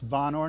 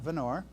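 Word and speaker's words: Vonore: president of jera energy of vanor pronounced vanor not vanor Tennessee good afternoon Kelly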